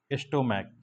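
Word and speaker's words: stomach: देखो जैसे मैं मैं तुम्हें एक एग्जांपल देता हूं बेटा स्टोमक स्टोमक होता है ना बेटा यहां देखो क आया सी एच है लेकिन इसका उच्चारण क्या है क तो जब क है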